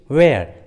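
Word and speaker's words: where: जैसे what, वेन, Y, which, वेयर, देखिए सभी इंग्लिश वर्ड्स में एच डब्ल्यू के बाद आया है, इसलिए एच साइलेंट है, एच का उच्चारण नहीं किया गया है।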